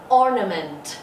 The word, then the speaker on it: ornament: Mọi người nhìn phiên âm nhé. Âm đầu tiên là âm O. O. O. N. N. Ment. Ment. Nhớ âm tiết số 1 và hạ hai âm tiết còn lại.